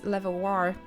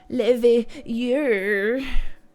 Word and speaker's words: Leveilleur: Well, it is House Levoir. Fuck, I just cannot. I know in my head how to pronounce it.